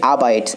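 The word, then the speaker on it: abide: বন্ধুরা বিনং শূন্যস্থানের পূর্বে লক্ষ্য কি আছে, আবাইডস, কি আছে আবাইডস আর পরে আছে দ্য রুলস অফ রিলিজন। বন্ধুরা মনে রাখবে অ্যাবাইড বা আবাইড সঠিক উচ্চারণ আবাইড, আবাইডের পরে কি বসে, বাই বসে।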